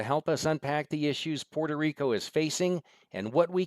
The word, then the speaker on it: Puerto Rico: tell you I have so much respect for Puerto Rico I grew up in southern West vir Virginia to be honest with you we pronounced it Puerto Rico like p o r ta and and I